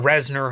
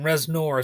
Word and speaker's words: Reznor: it was produced by Trent Reznor or Reznor, however you want to pronounce it. I tend to emphasize the or. I go like Trent Reznor. Some people are more like Nur.